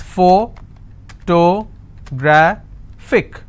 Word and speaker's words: photographic: has a photographic memory so what are the syllable break it's four toe bra thick and since it's ending with ic i will stress on grab so whatever is the